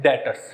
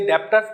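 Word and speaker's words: debtors: अब 10 पॉइंट आते हैं डेटर्स। कौन सा पॉइंट है, डेटर्स। डेटर्स में बी साइलेंट से बेटा, ये ध्यान रखना, DEBTOR एक्सपेल है, जबकि बच्चे डेप्टर्स बोलते हैं, डेप्टर्स नहीं होता है, डेटर्स होता है।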